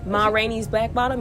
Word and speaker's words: Ma Rainey's Black Bottom: Ma Rainey's Black Bottom.